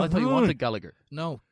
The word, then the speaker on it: Gallagher: I thought you wanted Gallagher. No, Gallagher. I think there's more romance to me pronouncing a Gallagher as an Irish man. Gallagher sounds like I'm just talking to a taxi man in Dublin who's you telling are.